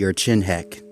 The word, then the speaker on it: Urchinhek: The Urchinhek. I know it's spelled a different way, but that's literally how it's pronounced.